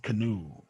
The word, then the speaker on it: canoe: with sound so then we stress but it's pronounced canoe two syllable words if it's a noun okay